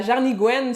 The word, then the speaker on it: jarnigoine: Jarnigouenne. En fait, c'est jarnigouane, mais on prononce jarnigouenne.